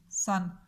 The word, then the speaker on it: son: और इसमें सीन की साउंड निकाल रहा है सन, यू और नून, सन। अब जो है SON, सन भी होता है। इसका मतलब है बेटा। प्रोनाउंस करने में दोनों सन ही बोले जाते हैं, लेकिन जो सूरज है